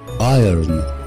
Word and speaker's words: iron: number 15 مش iron, iron, iron, iron, iron معناها يكوي أو مكوى أو حديد, نطقها بالأمريكان iron, iron. لكن البريتش iron, iron, iron, مش هينطق الار, عندهم مشكلة مع الار.